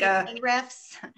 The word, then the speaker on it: Ahrefs: It's like Ahrefs.